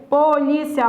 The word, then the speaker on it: polícia: A pronúncia dessa palavra é essa, é polícia. É polícia. Essa palavra, ela é uma paroxítona, tudo bem? Ela é uma paroxítona terminada em ditongo.